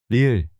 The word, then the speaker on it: 리을: This is a combination of R and L sounds similar to the R in rabbit. or L in light. 리을.